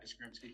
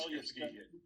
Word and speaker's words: Yastrzemski: Yastrzemski. That's a mouthful. Carl Yastrzemski, Yastrzemski.